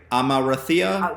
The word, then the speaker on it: Amarantha: The character of Amarantha.